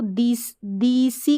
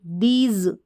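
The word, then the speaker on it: these: जैसे आपने इसको दीसी कभी पढ़ते हुए सुना नहीं, दीज, ज, एस को ज करके, और ई साइलेंट है, द, टी एच का उच्चारण द, दीज।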